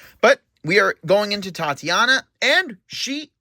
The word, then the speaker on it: Tatania: Yeah, Tatania, that's how you pronounce it.